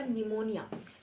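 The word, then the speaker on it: pneumonia: करवाओ तो करें इसके बाद क्या है आपका निमोनिया निमोनिया क्या है निमोनिया लंच की डिसीस है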